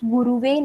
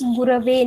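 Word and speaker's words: गुरवे: Now, the most common mistake which we all make intentionally, unintentionally, is we say Tasmai Shri Guruve Namaha. So the correct pronunciation is Gurave Namaha.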